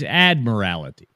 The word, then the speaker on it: Admiralty: it's Admiralty. Admiralty? Yeah, like Admiralty. Boy, that makes a difference. That makes a difference there. It's more like it's not itty.